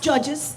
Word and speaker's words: O'Judges: That's pronounced judges. The O is silent.